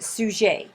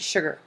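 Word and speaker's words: Suger: was by a guy named Abbott soujay it looks like Abbott sugar that's how his name is spelled and he wrote A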